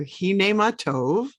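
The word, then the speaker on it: הנה מה טוב: these words even though i can't hear you hine matov umanayam shevette as rabbi told us behold how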